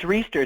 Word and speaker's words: Riesterer: On top of that, we have Tim, and Tim, please correct me if I mispronounce this, Riesterer? It's Riesterer.